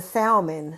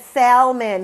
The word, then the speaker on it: salmon: said Imma have the salmon you got a thing against pescetarians no he said Salman he pronounced the L uck is this is